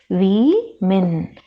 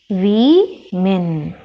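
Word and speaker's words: women: it as men but we call it as we min we min then we have another word come for double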